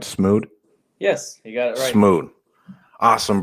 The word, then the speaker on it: Smude: much coming on and it's am i pronouncing that right smooth yes you got it awesome bro i love